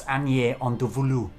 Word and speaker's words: Agnières-en-Dévoluy: a YouTube channel which teaches you how to pronounce things. It's Agnières-en-Dévoluy.